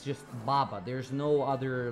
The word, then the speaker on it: baba: my grandma's grandma in macedonia i call them baba because that's how you say grandma in macedonia baba b-a-b-a that's how you say it baba that's what